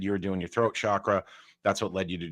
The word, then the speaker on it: chakra: is the moldara which is sript for root chakra chakra that's how you pronounce it I always want to say it